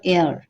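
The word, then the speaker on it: heir: পারসনের ক্ষেত্রে উত্তরাধিকারী এয়ার এটার উচ্চারণটা কিন্তু এয়ার হিয়ার হবে না হ্যা এয়ার অফ উত্তরাধিকারী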